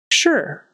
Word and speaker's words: sure: it's just fascinated fascinated sure sure that s is going to be an sh sound because it's in front of this U or actually